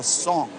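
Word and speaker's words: cong: It was complemented by another form called a song. It's spelled C O N G which is this rectangular vessel that has open ends and represented the earth.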